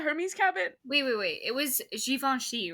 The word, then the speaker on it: Givenchy: It was Givenchy, right?